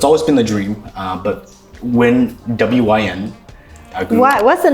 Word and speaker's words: WYN: But WYN is also win-win, right?